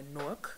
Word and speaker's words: Newark: some of the top designers in Newark or Nook that's how you say it um and we